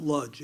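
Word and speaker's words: Łódź: In English, we pronounce it Ludge. L O DZ, right?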